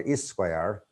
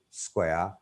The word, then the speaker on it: square: It's not is square. School, square. Thief.